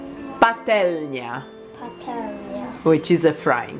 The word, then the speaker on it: patelnia: Okay, next one is, the first one is frying pan, which is patlianowa. Patelnia.